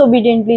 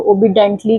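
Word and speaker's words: obediently: ध्यान रखना आप लोग इसको जो प्रोनाउंस करते हो ओबिडेंटली करते हो तो दिस इज़ नॉट ये सही प्रोनाउंसिएशन नहीं है आप इसे सही प्रोनाउंस करें तो जो हमारा सही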